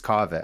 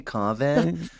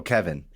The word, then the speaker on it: Kaveh: But technically, it's Kaveh. I feel like I'm Persian-splaining today now. Now I'm like, it's actually Kaveh. But I don't correct people when they say Kaveh.